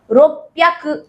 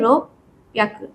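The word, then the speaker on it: ろっぴゃく: এরপরে হ্যাকু হবে না, এই রকুর জায়গায় আপনার উচ্চারণটা এরকম হবে রোপ্যাক, ঠিক আছে? 600 হলে বা 600 হলে রোপ্যাক, রোপ্যাক।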